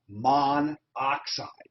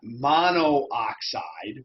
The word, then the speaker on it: monoxide: one oxygen is dinitrogen monoxide notice it's not mono oxide we have dropped the